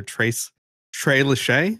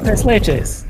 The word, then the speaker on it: tres leches: Trey Lachey, is that it? Trey Lachey, that's the one. Run. How do you say it, Dave? Tres Leches. It's Spanish, man.